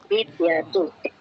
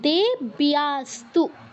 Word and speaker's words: দেব্যাস্তু: আচ্ছা, জফলার উচ্চারণটা আপনি স্কিপ কেন করছেন? দেব্যা বলুন, দেব্যাস্তু বলুন। দেব্যাতু, দেব্যাতু না, দেব্যাস্তু।